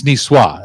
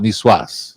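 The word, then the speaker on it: Niçoise: Chef Terry would say you don't pronounce the S at the end NWA it's niswa and I always want to call it Nas yeah but anyway so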